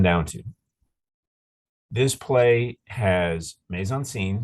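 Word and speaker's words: mise en scène: all this come down to this play has Maison scene right stuff in the scene maze is spelled m-i-s-c sort of a French way of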